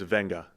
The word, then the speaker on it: Venga: So, yes, his name's Venga. You take the V-E-G-A, that's his nickname, and then that's how you pronounce V-E-G-A with an N, just like Tua Tunga Vailoa. You had the N in there.